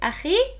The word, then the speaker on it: أخي: If you want to say my brother, also to pronunciation, pick the easiest one. You can either say أخي or أخوي.